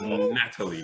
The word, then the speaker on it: Nathalie: to leave very very low the goal is Natalie not Nathan you say you say Natalie but